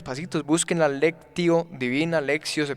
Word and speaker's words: lectio: texto hay unos pasitos busquen la lectio divina lexio se pronuncia alexio divino claro leche divina por por